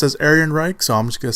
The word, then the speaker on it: Ehrenreich: Again, I've heard his name being pronounced another way, but I first heard it pronounced as Ehrenreich, so I'm just going to say Ehrenreich.